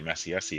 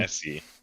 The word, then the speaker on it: Essie: I was gonna say Messi Essie instead of Essie. Yeah, that is her name. Essie.